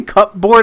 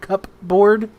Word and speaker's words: cupboard: Did you just say cupboard again? Like CUP board cupboard? Yeah, that's what it's called. It's cupboard. Indian in the cupboard, not cupboard. Our book, it was called Cupboard. Oh, it's pronounced cupboard.